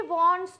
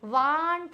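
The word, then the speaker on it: want: शी वॉन्ट्स टू बाय, शी वांट नहीं होगा, वॉन्ट होगा।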